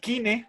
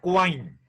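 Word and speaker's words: Quine: van orman cuando ya no se pronuncia al cine sino wine a la inglesa si el profesor de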